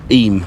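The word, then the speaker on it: Eyam: a village in Derbyshire called iam or M he pronounced it aim aim Pym and the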